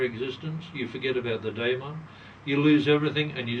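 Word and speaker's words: daimon: was coin by Socrates a Damon some people pronounce it a diamon joins your soul joins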